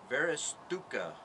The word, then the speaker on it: Varusteleka: with a military surplus gear unboxing here from various dukkha I believe is how it's pronounced it's a military surplus shop in Helsinki